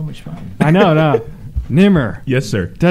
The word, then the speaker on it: Nemr: Nimr.